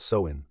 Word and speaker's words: Samhain: Over 2,000 years ago, the Celts, who lived in what's now Ireland, the UK, and Northern France, celebrated Sam Hayne, pronounced Soen, around October 31st.